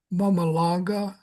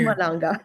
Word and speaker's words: Mpumalanga: And I'm going to butcher the language. Um Mum Mmamalanga Township. Maybe you know what I'm talking about. It's It's several It's It's in It's in Mpumalanga. Okay. Thank you. Mpumalanga.